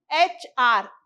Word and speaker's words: HR: But how is it pronounced here? It is pronounced as HR, A sound.